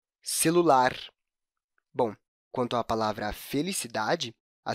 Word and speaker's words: felicidade: da palavra na sílaba da felicidade percebe a sílaba tá é mais evidente nessa palavra quando a gente fala